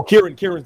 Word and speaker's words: Kieran: Yeah, Kieran.